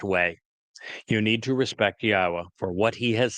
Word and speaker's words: Yahweh: Al Benyim Yahweh, which is the proper pronunciation of the name of our Elohah, God, as directed by his Torah teaching regarding his Haya existence.